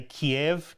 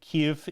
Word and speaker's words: Kyiv: We say Kiev. Kyiv is closer to the relevant pronunciation there.